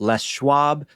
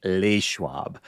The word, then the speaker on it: Les Schwab: about our conversation about Les Schwab and our dear friend and colleague Julia who admitted courageously that she used to pronounce it lewab.